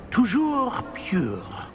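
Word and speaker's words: toujours: Tujour.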